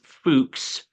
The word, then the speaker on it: Fuchs: That's how you pronounce it. It's not the F word. It's Fuchs.